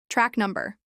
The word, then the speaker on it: track number: Track number. Track rhymes with back, and stress is on num in number.